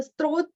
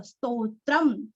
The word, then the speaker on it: स्तोत्र: मैंने कभी सुना है तो वह स्त्रोत कुछ तो ऐसे गलत उच्चारण होता है तो स्तोत्र का उच्चारण करते समय आधारित और तो है तो प्रौढ़ अनुस्वार का उच्चार आधा मोर स्तोत्रम स्तोत्रम सम्पूर्णम आधा उधर